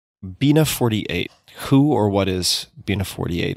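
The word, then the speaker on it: Bina48: who or what is being a 48 if i'm pronouncing that correctly yep you've got it perfectly so bina is the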